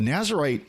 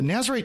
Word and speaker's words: Nazirite: And what the Nazarite Challenge is doing, or Nazirite is actually probably a closer term. Jimmy, you might know better than me on that, but that fuses a couple of different pronunciation schemes.